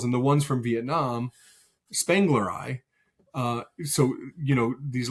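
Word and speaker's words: spengleri: Um and but but really if you were trying to say it like in from somebody who was like trained in Latin, it would be like Spangleri, but it's but we all say Spangler.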